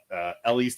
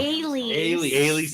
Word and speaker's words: Ailey's: We had Ellie's to go. Ellie's, I always say it wrong. Ailey's. It's spelled E. A Greek thing.